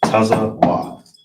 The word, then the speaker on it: tazawa: So the word is neck, and how you pronounce it is tazawa. Tazawa. And then only thing you have to do for this one, taza is by itself. Then you got the wa that's by itself also.